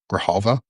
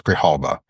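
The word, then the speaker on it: Grijalva: Grahalva, I want to make sure I I think it's Grahalva um is how you say her name.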